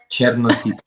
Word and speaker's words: Chernositov: Um, your names are hard to pronounce. Can you can you introduce yourself properly? Chernosito.